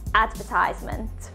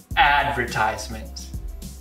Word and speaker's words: advertisement: And in British English, we would say advertisement. Advertisement.